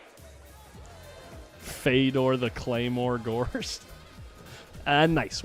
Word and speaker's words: Fedor: really that's close but it has something to do with the Russian dialect and the way that the anoun is the name is pronounced because I asked him how does what does your mother call you right that's what he said it's something like f and uh he just says fetter's fine Fedor the Claymore gor a